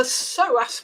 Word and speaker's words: psoas: Yes, you know, it's the psoas muscle. Let me spell that for your listeners.